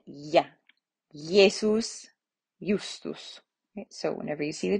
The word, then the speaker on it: Jesus: see i um and it is pronounced like the y sound of yet yeah jesus so whenever you see